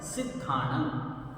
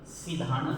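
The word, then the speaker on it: सिद्धाणं: तरीके से बोलेंगे नमो सिद्धानम और द के नीचे ध है तो ये पूरा आना चाहिए सिधान नहीं होना चाहिए सीधानम नहीं होना चाहिए नमो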